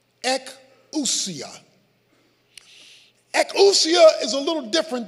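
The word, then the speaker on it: ἐξουσία: The Greek word here is pronounced ekousia.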